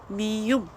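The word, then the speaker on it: 미음: और इसके बाद जो नेक्स्ट हमारा अल्फ़ाबेट आता है एम, जिसे हम कोरियन में बोलते हैं मीयुम। ठीक है, जो एम को प्रोनाउंस करता है।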